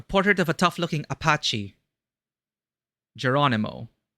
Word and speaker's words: Geronimo: Geronimo. In the Philippines, that's Jeronimo, which I guess would also be in Spain.